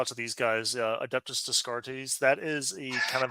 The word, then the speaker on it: Descartes: Yeah, but so and I want to give a shout out to these guys, Adeptus Descartes.